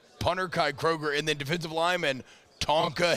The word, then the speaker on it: Kroger: incredible special teams so Kai Kroger spelled like the grocery store getting to come down